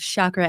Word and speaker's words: chakra: It sounds like shock, like electric shock, Ra, like the Egyptian god.